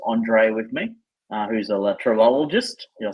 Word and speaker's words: LeTravelogist: Who's a latrologist. Did I say it right? Yes, perfectly pronounced, my friend.